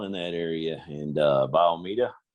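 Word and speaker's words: Bayou Meto: that area and uh biomedia that's how you pronounce it don't look that way but uh anybody from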